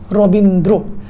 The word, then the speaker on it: রবীন্দ্র: তারপরে যদি একটু দেখো, আমরা শুদ্ধ উচ্চারণ যদি দেখি, রবীন্দ্র শব্দের শুদ্ধ উচ্চারণ হবে রবীন্দ্র, শ্রাবণ শব্দের হবে শ্রাবণ,